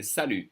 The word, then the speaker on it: salut: in French we say sal sal for hi salute for bye uh we actually do use chiao just to say goodbye in French salute and we don't say the T the French will always